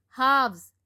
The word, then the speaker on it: halves: Halves, L is silent.